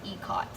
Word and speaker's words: Ikat: And I had to look up how to pronounce that, because I always thought it was Ikat, but once I looked it up, I figured out that it is actually, you pronounce it Ikat.